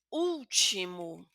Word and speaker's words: último: Lo que me indica aquí es que mi sílaba más fuerte es la primera.